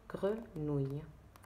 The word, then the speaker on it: grenouille: O-U-I, deux L, E, on le prononce ouille. D'accord? Donc, grenouille.